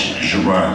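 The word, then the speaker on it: Gerrard: And I lived in a 5-flight a little room up on, the names are beginning to, like, Gerard? No, it's Gerard. You're pronouncing it incorrectly.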